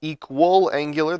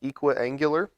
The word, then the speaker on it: equiangular: It's not equal angular, there's no extra L in the middle of the word, it's pronounced equiangular, but it means that all three angles are the same measure.